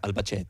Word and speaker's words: Albacete: C'est en italien, t'as Albacete. Albacete. Non, mais c'est Espagne, hein, c'est Albacete, Ouais.